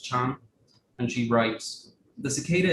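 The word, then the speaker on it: 蝉: So cicada, as Zongjun said, is pronounced Chan, and she writes, "The cicada is a symbol of cyclical resurrection.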